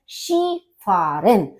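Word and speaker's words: Skifahren: अपनी स्पेलिंग से तो इसका होता है शी फरन यानी कि स्किंग तो शी फारन ये ध्यान रखिए क्योंकि इसका जो उच्चारण है इसका जो प्रोनंसिएशन है वो एकदम से डिफरेंट है डास शी फरन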